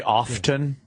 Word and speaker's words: often: It's a silent T. Often. It's not silent. It is silent. No, it's not. Often. Absolutely. Often is not. Do you say psoriasis? That is a silent P. You say psycho. Psychology? Yeah. Yeah. The T is not silent and often.